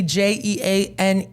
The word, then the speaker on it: Jeane: find me Gan j e a n e Jean the E is silent I'm a little I'm